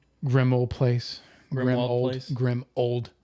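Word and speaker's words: Grimmauld: But what I'm saying is it's supposed to sound like grim old place because that's what it is.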